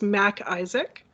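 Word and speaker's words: MacIsaac: i will spell i will say it and spell it so it's mac isaac so it's emma's and mary a c is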